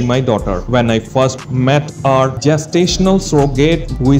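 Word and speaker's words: Mei: my heart has exploded me pronounced my means plum in Chinese molani announced her arrival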